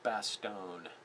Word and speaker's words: Bastogne: E but it's pronounced Bastogne like bass and tone and that was where